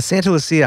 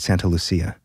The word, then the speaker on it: Santa Lucia: It's got to be Lucia. That's what I thought, but according to like the Santa Lucia Highlands, I guess, is like big wine country. So the only pronunciation I could find online was a guy reviewing wine and he called it Santa Lucia. Hmm. So apparently if you're a local, that's what you say.